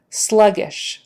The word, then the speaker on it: sluggish: growth sluggish um so that's a i is is Silver the ey is short as in silver sluggish sluggish slugish growth w